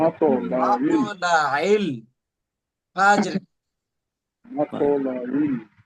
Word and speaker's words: مطلع: আমি ভেঙে ভেঙে ভেঙে বলছি যার আপনাদের যারা বুঝতে সুবিধা হয় সালামুন হিয়া হাত্তা মাতলাইল এখানে আইন উচ্চারণ করতে হবে এবং কলকলা করতে হবে মাতলাইল মাতলাইল ফাজর মাতলাইল জি ফজর ওস্তাদ জি বলছেন।